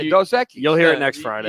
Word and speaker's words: Dos Equis: It's Dos Equis. You were saying it wrong when I heard you.